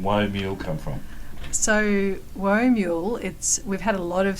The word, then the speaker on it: Whoa Mule: So Woe Mule, we've had a lot of strange pronunciations over the years, but it's like whoa, like as if you're riding a mule or a horse.